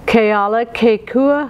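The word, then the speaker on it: Kealakekua: Let me give you the pronunciations of those words. Keala Kekua, Hawaii.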